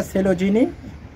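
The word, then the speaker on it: Coelogyne: অনেকে অনেক রকম উচ্চারণ করে। হুম হুম। কিন্তু এটা সেলোজিনি।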